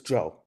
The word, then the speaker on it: Zhou: Is it Zhu or who? The last name? It's Joe. It is. The ZHOU is pronounced.